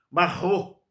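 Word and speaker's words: מרור: primeiro elemento chamava-se marrom marrom pelo hebraico você tem que rasgar a garganta para pronunciar dois R então marrom que era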